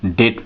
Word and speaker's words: debt: यहाँ देखें DEBT, इसको अधिकांश लोग डेप्ट पढ़ते हैं। क्या पढ़ते हैं? डेप्ट, लेकिन नहीं, इसको हम डेट पढ़ते हैं।